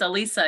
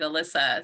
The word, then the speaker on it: Elisa: and actually it's it's Elisa even though it's not like Alyssa so to uh Lisa